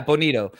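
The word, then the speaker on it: Bonitto: class because it's just so thick nick nick benito how do you pronounce his name yeah bonito um i hate oklahoma i'm a longhorn myself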